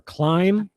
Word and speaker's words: climb: Climbing or climb. You do not pronounce the B.